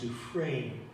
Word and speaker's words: Dufresne: This is a French name, and it's pronounced Dufresne. The S is not pronounced because French is a messed up language.